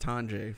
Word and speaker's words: Tanja: It's pronounced Tanja, for one, if I'm not mistaken. I got your back, buddy. It's Tanja.